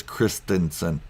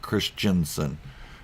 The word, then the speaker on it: Christensen: First, let me just say, to all those other YouTubers that mispronounce it, it is Christensen, not Christensen.